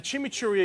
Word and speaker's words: chimichurri: And I made something called a chimichurri. What is that? What is that? Chimichurri. Usually you roll your R's with it.